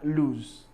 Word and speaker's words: lose: Loose and lose. So I'm not saying the first one is s, and the other one is z. Loose and lose.